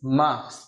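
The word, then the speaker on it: mars: তৃতীয়টা হচ্ছে মার্চ, এম আ আর এস, মার্চ।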